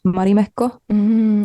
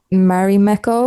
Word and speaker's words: Marimekko: to the Finnish brand Marimekko. I saw this. I'm pronouncing it very Finnish now, so I don't know if anyone understands, but it's this Finnish brand, Can you say it like English style? Marimekko.